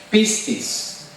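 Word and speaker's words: πίστις: La palabra fe es una palabra que se pronuncia pistis.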